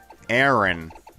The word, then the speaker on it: Aaron: have lying around just about anywhere just about aaron that's that's how you pronounce his name aaron but it's are you